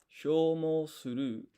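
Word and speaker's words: 消耗する: So this shi and yo is not shi yo, because this yo is half-sized. It forms a yun combination. Sho. Manabu is to learn.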